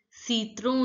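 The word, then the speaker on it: citron: to pronounce again onion lemon is pronounced as see through in French I is pronounced as e as you already know T is pronounced as the it is never T this T sound is not the English sound T is not there it's orange so it is the the sound in French see through when you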